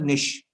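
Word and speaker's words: Nietzsche: for example Fred Nish it's pronounced Nish Frederick Nish not referred to Russian novelist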